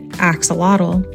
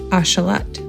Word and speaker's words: axolotl: While many of us pronounce it axelottle, the original nodal pronunciation is actually ashalot.